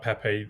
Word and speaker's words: Pepe: I will go for Pepe. I'll go for Pep as you pronounce it, as a centre back.